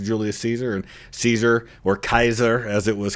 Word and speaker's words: Caesar: And Caesar or Kaiser as it was called in the uh in the Latin language, it would pronounce Kaiser, which is where we get Kaiser and Zar.